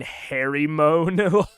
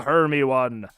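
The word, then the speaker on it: Hermione: keep it moving uh I pronounced her name totally wrong for yearsing my brain hairy moan hay moan I see it I see Harry Moon her her Heron Herm one it's a Herm one um I bet if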